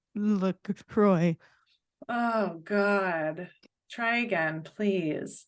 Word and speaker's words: LaCroix: you're out there and you pronounce it Lacroix it is not Lacroix you can even go to the website and it states on the website how to pronounce it it is Lacroix you're welcome I'm done thank you for coming to my TED Talk message from Amy to PSA from Amy don't be stupid it's Lucroy oh God try again